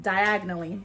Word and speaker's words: Diagon Alley: Yeah, Harry he did not pronounce Diagon Alley correctly, which, if you look at it, it's just diagonally.